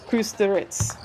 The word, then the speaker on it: Kusturica: And I am aware his last name has an A on the end, but we were provided with some audio of the pronunciations of our athletes' names, and Team Serbia has pronounced it as Kusturica.